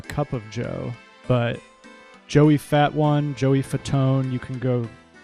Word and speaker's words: Fatone: This is Joey Fatone, is apparently how it's pronounced. And he's a member of the boy band NSYNC. And his last name looks like it's spelled Fat One.